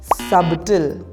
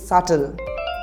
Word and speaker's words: subtle: you pronounce this one sub the correct pronunciation is subtle repeat after me subtle because the B is silent so it will not